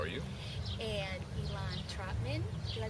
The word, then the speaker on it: Elan Trotman: got detroit's lynn roundtree how are you and elon trotman did i pronounce that right you got it right yes